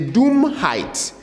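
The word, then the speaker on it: Dummheit: to this the next one is height the Doom height the Doom height pronounce it the Doom height and doom height simply means stupidity the Doom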